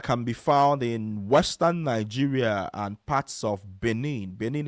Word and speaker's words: Niger: And then we have the House tribe that's found in Nigeria and parts of Nijer Republic. So Nijer is spelled N I G E R.